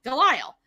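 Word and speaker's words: Delisle: i s l e delile it is an Americanized version of a French name if I went over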